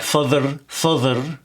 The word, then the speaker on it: father: Father. So here we have an open vowel. It's not father. Father. Same with that there sound at the end.